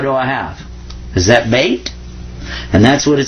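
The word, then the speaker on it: بيت: Is that bait?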